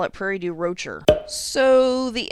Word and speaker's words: Prairie du Rocher: changed to mars sales in french the last letter typically doesn't get pronounced so this should be prairie du roches but illinoisans have decided that we have to go with saying the r so it's prairie du rocher i guess i should